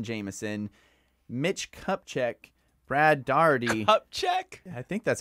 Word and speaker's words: Kupchak: Kupchak?